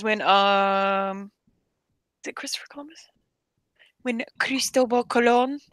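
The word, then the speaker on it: Cristóbal Colón: um Christopher Columbus when Cristobal Colon which is how you really say his name um when he came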